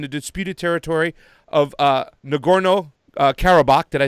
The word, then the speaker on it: Nagorno-Karabakh: martial law and the disputed territory of uh nagorno-karabakh did i say it right yes after a